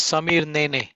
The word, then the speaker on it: Samir Nene: others and uh my the the way you say my name is samir nene last name is perfect yeah you got it you got it perfect i wanted to make